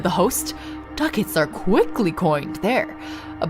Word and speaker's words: ducat: Ducat, like a bucket. Guess we say fuck it. Okay. "Oh my word," said the host. "Ducats are quickly coined there.